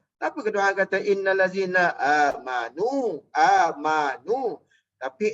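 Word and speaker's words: آمنوا: Tapi kedua kata innal ladzina amanu. Tapi ejaan tu alif min nuwar tu baca amno. Jangan baca amno, baca amanu. Baca amanu. Jangan kata ya ayyuhallazina amno. Oh, jangan. Nak baca ya ayyuhallazina amanu.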